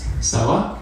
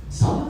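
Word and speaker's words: Sela: Cella. Stella. Yeah. Sella. How do you spell it?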